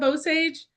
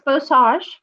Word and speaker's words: Bowsage: So, tell us a little bit about Bose or am I saying it correctly? I may not be. Just uh give us a little education. What would you like us to know about your methodology? So it's bassage just like massage with the bowen